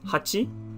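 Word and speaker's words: 八: eight number eight also really easy one it's pronounced as hachi and it's just these two strokes quite easy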